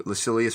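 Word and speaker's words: Lucilius: or moral letters to lacilius or lucillius if you want to pronounce it probably like they did um time we get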